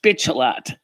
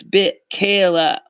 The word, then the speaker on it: Michaela: And no, it's not pronounced bitch a lot. Somebody joked about that one time. You said, they pronounce it like, is it bitch a lot? No, it's bit Kayla. Like Michaela. My name in Italian is Michaela. Her name is got a B instead of an M, so it's Michaela.